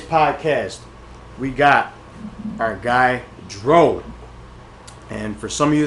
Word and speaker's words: Jro: On today's podcast, we got our guy Dro. And for some of you that are asking how Dro is spelled, it's fucking Dro with a J. Because my man don't do the D like that, alright?